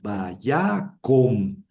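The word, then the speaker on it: וַיָּקָם: Vaya cam. No, Javier, no. Vaya com. ¿Por qué? Porque dijimos que el la camets es una cametuf, es decir, es una o breve. Si está en sílaba cerrada, no acentuada.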